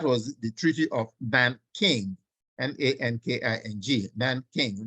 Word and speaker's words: Nanking: That was the Treaty of Nanking, Nanking. Nanking. Nanking is a Chinese word. It's not the king there is not English. It's a Chinese pronunciation.